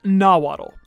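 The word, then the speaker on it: Nahuatl: be a reference to nawatel which was the language of the ancient aztecs and other mexican tribes oh also comment section don't get mad at me it's actually pronounced nawaddle sorry about that mori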